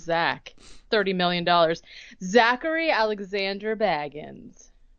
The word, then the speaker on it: Bagans: Zachary Alexander Baggins. I want to go to the wiki and see how he pronounces it. Bagans.